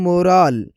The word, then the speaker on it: moral: जैसे कि उर्दू साउंड देखा जाए तो पहले जो है मोरल और दूसरा है मोराल, मोराल। फ़र्क वॉवेल और एंडिंग साउंड में है, जो सुनते ही क्लियर लगता है।